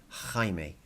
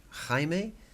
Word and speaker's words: Jaime: like this there's no I it's and it's pronounced Jaime Jaime so hi mate is so funny but too